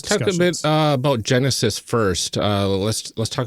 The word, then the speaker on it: Genesys: is Genesis all about so Genesis is uh actually stands for generic system uh spelled g e n e s Ys uh so different than the way probably most people would spell that word um it is the